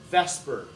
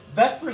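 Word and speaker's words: VSEPR: we spell it differently the differently than we pronounce it but everybody in chemistry call this Vesper theory even though the s and E are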